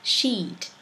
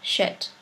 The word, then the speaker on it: sheet: Now, if you refer to something that cover your bed, then you have to pronounce sheet. But if you refer to something you produce after every meal, then that becomes shit.